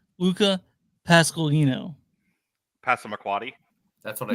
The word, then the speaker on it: Luca Pasqualino: His name is pronounced Luca Pasqualino.